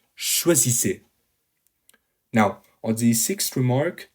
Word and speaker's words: choisissez: Note the pronunciation, choisissez.